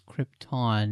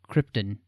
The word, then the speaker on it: Krypton: I because we have the official pronunciation of Krypton it is Krypton not Krypton as Marlon Brando was